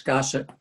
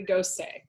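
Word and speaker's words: Gosset: across through the glass i always thought you pronounced this gossip you can say i think it's technically ghost day so this is the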